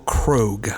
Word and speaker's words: Krogh: It's Michael Krogh.